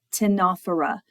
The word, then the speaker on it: Ctenophora: Now we're moving on to the phylum Ctenophora, which starts with a silent C. The phylum Ctenophora includes the comb jellies.